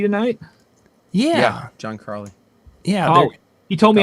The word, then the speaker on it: Carley: He said it's like the dog, Collie. Oh. So that's how I remember. I always thought there was an R in there.